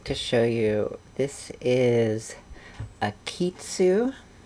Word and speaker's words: Akeytsu: show you this is a kitsu it's not a japanese company it is a french company with a well it's a japanese sounding name and we'll call it a phonetically japanese french company so what is this